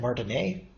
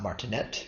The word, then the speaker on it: Martinet: was named Martin a and the reason I'm pronouncing it not martinet but Martin a is the person is he was a French